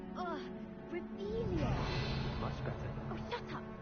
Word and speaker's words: Revelio: Ugh, Revelia.